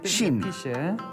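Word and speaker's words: 新: It's pronounced or shin.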